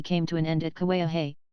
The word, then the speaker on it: Kauai: to an end at Kauai usually pronounced to a high and before we find